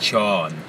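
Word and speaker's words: ช้อน: and he means box spoon is like Shawn like Shawn Shawn Shawn so I'm working on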